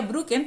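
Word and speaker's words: Brücher: Pero este tipo era el coronel alemán y experto en genética vegetal Heinz, como la mostaza, Heinz, y se pronuncia Brucken, pero se escribe Brucher.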